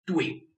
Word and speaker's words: 对: So for this 对, you may find the pronunciation not easy. It's not your problem.Because it's not a full spelling. The full spelling should be D-U-E-I.